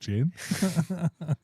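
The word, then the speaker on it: Gyn: one on a roundabout I think it's pronounced Jin g y n the G the G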